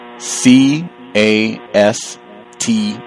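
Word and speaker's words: caste: do she spell it how does she spell it c a s t e you mean cast that's how they say it it's spell case but they say cast it's like the cast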